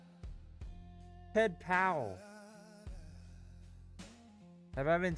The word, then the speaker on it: Powell: Powell. Say that one more time. Like howling but with a P.